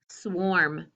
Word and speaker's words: swarm: a swarm of bees kind of got the word warm in it okay i want you to mark what kind of syllable it is it's an r control but it's with a w so how did you spell it yeah it's ar ar warm or swarm okay let's erase and